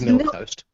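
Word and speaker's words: milquetoast: mundane milk milk toast how do you say that word Karen milk toast milk no milk Quest right it is milk toast milk toast milk toast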